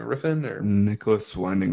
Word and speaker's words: Refn: Riffin or Nicholas Winding Refn, I think right? that's it. Right, Riffin. Yeah, okay. Um, should get better at being able to pronounce some of these odd names.